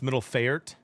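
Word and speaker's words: Midtjylland: Uh, it's pronounced middle fert Danish kid.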